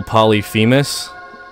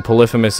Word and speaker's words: Polyphemus: at all confused by the way I'm pronouncing uh what you would call polyus um polyphemus is the way it's supposed to be pronounced just saying oh speaking